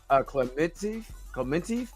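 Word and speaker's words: Klementieff: Palm, I think it's her last name is pronounced Clementif as Mantis.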